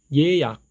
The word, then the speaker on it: 예약: 방금 공부하셨던 이중모음 예가 포함되어 있는 단어 예약, 예약, 예약 꼭 기억하시기 바랍니다.